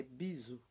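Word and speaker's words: bisous: é a t o bizu beijos piso em francês você não precisar pronunciar o s no final pisos nós é bizu tá beijos b e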